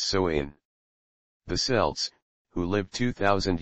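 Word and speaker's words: Samhain: ancient Celtic Festival of Sam hay pronounced soain the selts who lived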